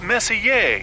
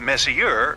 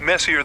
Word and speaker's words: Messier: stands for Messier pronounced Messier not Messier as in is your room messier than mine Charles miss here I